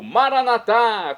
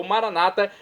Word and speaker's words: Maranatá: E agora eu clamo do aramaico Maranatá, como dizemos nós católicos, ou Maranata, como dizem nossos irmãos separados, os evangélicos ou protestantes. Não importa a pronúncia, o significado é o mesmo.